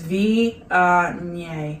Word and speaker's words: Viognier: So it's Viognier.